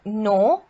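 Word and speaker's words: know: words next we have no we don't say we don't say k here we don't take now it's no so the k silent here then it's knife knee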